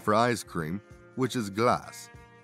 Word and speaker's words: glace: Take the French word for ice cream, which is glace. It's pronounced almost identical to the English word glass, and visually shares some similarities.